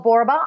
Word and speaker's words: Borba: Well, my website's Michelle Borba. I'm a 1L Michelle and my last name Borba rhymes with Zorba.